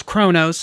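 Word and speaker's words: Qo'noS: overlord of vulcan dominus of konos which they pronounce chronos i know but it's spelled konos regina andor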